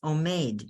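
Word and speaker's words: עומד: It's omed, and it starts like that with an ayin and a vav. And a mem and a dal, omed, standing.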